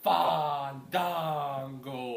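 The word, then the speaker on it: Fandango: we're back and we're back uh taking on fond Dango there you go say it correctly AKA Johnny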